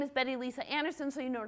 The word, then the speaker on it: Betty Lise Anderson: to drift technical talk and my name is Betty Lisa Anderson so you know how to pronounce that I'm from V Ohio State University